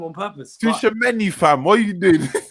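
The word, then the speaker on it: Tchouaméni: Tushimeni, fam. What are you doing? Oh, Tushimeni. I thought it was Tamagotchi. Sorry, my bad. Oh my days. But nah, see all this Tushimeni, whatever.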